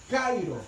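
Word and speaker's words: χαίρω: Y en griego se dice kairo.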